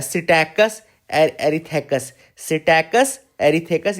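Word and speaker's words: Psittacus: African grey parrot का नाम देखो, साइंटिफिक नेम है सिटैकस एरिथेकस। सिटैकस एरिथेकस, ये पी साइलेंट होता है ना।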